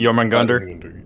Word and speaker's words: Jormungandr: I can't pronounce that one. Jormungandr?